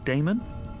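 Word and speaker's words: Daemon: a e m o n how do you pronounce that Damon if you prefer and this address I guess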